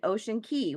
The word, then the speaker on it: Ocean Cay: So we're the next day we were day 5, we're supposed to be in Ocean Key, which is spelled Ocean Cay.